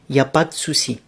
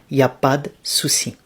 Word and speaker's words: y a pas de soucis: You say y a pas de soucis. Y a pas de soucis. And then you contract de and soucis. It goes like y a pas de soucis. Y a pas de soucis.